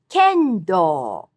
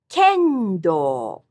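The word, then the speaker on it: 剣道: Same pitch for the traditional martial art of fighting with bamboo sword, which is kendo, kendo. The art of traditional calligraphy is shodo. All these have high-low pitch accent.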